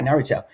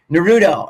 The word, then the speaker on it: Naruto: because we had she said how do i pronounce it i was like yeah naruto and has anybody experienced where some of the